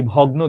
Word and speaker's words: ভগ্ন: শক্ত, এই ভগ্ন দেশকে দেখো, আমি নিজে একটা শব্দ বলে ফেললাম, ভগ্ন, যুক্তবর্ণ আছে, উচ্চারণ কি? ভগ্ন, ভগ্ন দেশ।